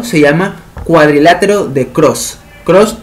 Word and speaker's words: Krause: Cross se escribe K-R-A-U-S-E.